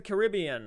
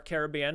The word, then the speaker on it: Caribbean: But Pirates of the Caribbean, or Caribbean, however you want to pronounce it.